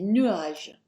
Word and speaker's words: nuages: Il y a des nuages. Il y a des nuages. That's a silent S on the end.